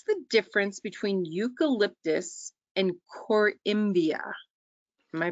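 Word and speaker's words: Corymbia: panel um what's the difference between eucalyptus and Coria am I pronouncing that correctly yeah cormia yeah so there are three genus of eucalyp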